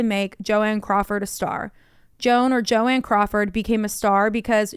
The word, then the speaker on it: Joan: So she later said that she wanted her first name to be pronounced Joanne, and that she hated